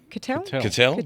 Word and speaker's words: Cuttell: How did we decide it was pronounced? Cuttell?